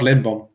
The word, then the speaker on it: Lindblom: How do you pronounce his last name? Olaf Lindblom.